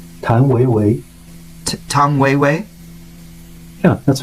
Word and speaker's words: 谭维维: Tang Wei Wei.